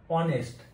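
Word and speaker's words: honest: তখন হচ্ছে আমরা অনেস্ট ঠিক আছে এটারই এই উচ্চারণটা কি হয় অনেস্ট বা ও এনই এস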